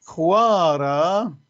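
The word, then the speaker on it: ܚܘܪܐ: بعدين خوارة. خوارة، شوف الخاء ايوه. ما لها حركة، فلذلك ما تلفظ مع الحرف الجاي بعدها اللي هو متحرك، خوا، فيشكلون مقطع واحد.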